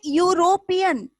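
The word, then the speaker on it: European: कि ई से स्टार्ट हुआ है, और ये यूरोपियन, ये भी ई से स्टार्ट हुआ, पर इसके पहले आप ए का इस्तेमाल करोगे।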